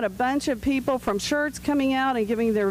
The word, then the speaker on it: Schertz: Schertz, thank you. I went to some of those, and they were very well attended. We had a bunch of people from Schertz coming out and giving their vision of the